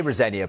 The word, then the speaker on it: Rosenior: Liam Rosenia, I say Rosenia, by the way, people will be throwing things at the screen.